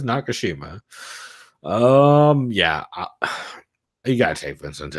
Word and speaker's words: Nakashima: I went with the second pronunciation, and then I realized, nope, it is Nakashima.